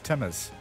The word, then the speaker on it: Timaru: I heard Timaru, yeah. Yeah, he says it's pronounced locally as Timmers.